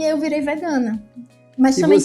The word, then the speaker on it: vegan: Na verdade se escreve vegan, como em inglês, mas aí pronunciam a francesa vegana.